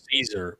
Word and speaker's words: CZUR: has come up, and I don't know if it's Seizure or Caesar. CZUR is how it's spelled. You find them online. It's got to be Caesar, because seizure just sounds like a bad marketing mistake.